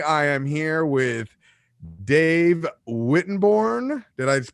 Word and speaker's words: Wittenborn: Today, I am here with Dave Wittenborn. Did I pronounce that correctly, Dave?